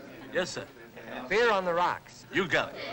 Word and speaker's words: Byrrh: is a Greek French it's the light continental drink pronounced beer oh so when you